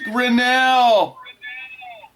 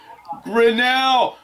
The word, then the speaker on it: Grinnell: pronounce your last name my last name is pronounced grinnell grinnell so it's spelled g is